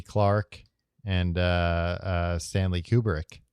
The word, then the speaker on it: Kubrick: Clarke and Stanley Kubrick. It's pronounced Kubrick, but yeah, you got it right.